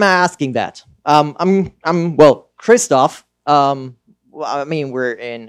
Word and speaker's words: Christoph: yes to be honest nobody gets Christoph right it's Christopher it's like all those